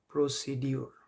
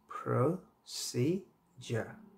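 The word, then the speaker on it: procedure: একইভাবে আমরা খুবই একটা কমন শব্দ এগুলো, সেটা হচ্ছে প্রসিডিউর, প্রসিডিউর শব্দটা আমরা না জেনেই ভুল বলে থাকি এবং এটা সঠিক উচ্চারণ হচ্ছে প্রসিজার, প্রসিজার।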